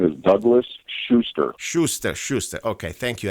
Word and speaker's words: Schuster: sure you were close my name is Douglas Schuster Schuster Schuster okay thank you and I apologize